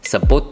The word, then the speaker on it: sapote: would definitely like rabbits SAP which is our pronounce it in Vietnamese sapote is how you pronounce it in English this sapote ice cream